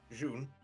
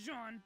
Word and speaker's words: jaune: Wait, yes, but can you pronounce it? June. June. Okay. Buu thought it was Jean.